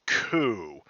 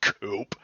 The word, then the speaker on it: coup: Dude, it's pronounced coup, not coupe. It's French. Sheesh. Like the coup de grace.